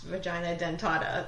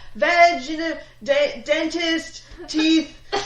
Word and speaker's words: vagina dentata: a few of them nobody can pronounce vagina dentata like all of the men that were doing reviews of this movie were like she's got veg dentist teeth vaginal Dynasty actually really funny